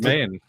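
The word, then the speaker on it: demesne: I think it's simply an archaic spelling, Okay. like jail, GAOL, right? Oh.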